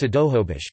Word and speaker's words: Snohomish: For example, Snohomish is currently pronounced Sidohobish, but was transcribed with nasals in the first English language records.